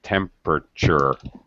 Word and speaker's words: temperature: drop a syllable okay i know it looks like tempur uh sure but we pronounce it with three syllables temperature just like chocolate we don't